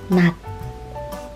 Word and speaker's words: 낮: 낮 will sound as 낮, 낮, not the J sound.